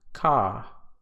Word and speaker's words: car: Now this is different in British English because the R is usually silent after vowels. So in this case, it would be pronounced ka, start.